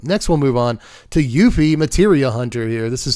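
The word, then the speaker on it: Yuffie: equipment you control to Yuffy, which is how I used to say her name. When I was a kid playing Final Fantasy F 7, this was her name was Yuff Yuffy the whole time. And then I got older, learned that everyone in the world pronounces her name Yuthi.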